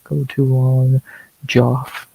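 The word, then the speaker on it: Geoff: Joff that's how it's spelled. It's not Jeff.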